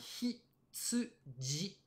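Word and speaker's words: 羊: la prononciation, c'est bien hitsuji.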